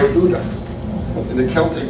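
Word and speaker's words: O'Dubhda: it's not, it's O'Duda. In the Celtic, it's pronounced O-D, it's spelled O-D-U-B-H-D-A, but it's pronounced O'Duda.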